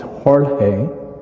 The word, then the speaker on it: Jorge: my first name and the name is hor I respond to George it's a Spanish word for George and then my last